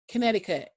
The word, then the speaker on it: Connecticut: Connecticut.